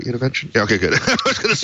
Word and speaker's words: Univention: Univention?